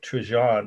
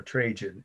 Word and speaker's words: Trajan: C-O-L-U-M-N of Trajan or Trajan. I've heard it pronounced both ways.